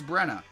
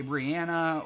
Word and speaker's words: Brenna: Like I told you guys before, I know a girl named Brenna, and she prefers Brenna. but she goes by Bree because nobody can fucking say her name right. They say Brianna or whatever.